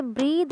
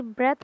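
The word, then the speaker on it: breath: He held his ब्रेथ, इसे ब्रीद नहीं बल्कि ब्रेथ प्रोनाउंस करते हैं।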